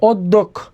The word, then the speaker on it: অধ্যক্ষ: দয় জফালা থাকলে এই যে জফালা থাকলে উচ্চারণ দ্বিত্ব হয়। দ্বিত্ব মানে কি? দুইবার হবে, যে এই হবে এরকম, এই হবে অধ্যক্ষ।